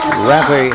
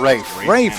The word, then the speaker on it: Rafe: Rafa Hanna. Is that the way you pronounce that? We're at. It's these rosters are second hand. Oh, yeah, I think you're talking about Rafe. Rafe Hanna.